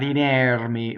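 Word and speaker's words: inermi: Inɛrmi. Again, doesn't rhyme with chair. It's not inɛrmi, right? Inɛrmi. The R rolls because it touches the M.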